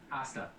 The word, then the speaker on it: hasta: Hasta. You don't pronounce the H? Hasta.